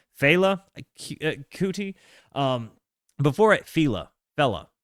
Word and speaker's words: Fela: Somebody type it phonetically again for me. Fail. Cooty. Um, before I Fela, fella, not fella.